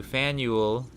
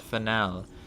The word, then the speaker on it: Faneuil: name of this building it's pronounced fan you'll all thank you fanuel not finale fanuel getting it wrong